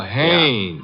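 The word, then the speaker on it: Haines: Oh, Hannes. Yeah. Do you know him? Well, there's a fell named Hines used to fish. No, no, no, not Hines.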